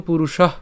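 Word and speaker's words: পুরুষঃ: কথংস কথংস পুরুষ পুরুষ কেন পুরুষ উচ্চারণ করছি এখানে বিসর্গ আছে যার কারণে আমরা উষ্ম ছাড়লাম সেজন্য আমরা কি করলাম পুরুষহ উচ্চারণ করলাম পুরুষহ এরপর পার্থ কং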